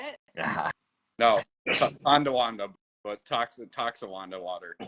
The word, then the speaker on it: Tonawanda: It's the Toxawanda water for me. Is that how you say it? No, Tonawanda, but Toxawanda water.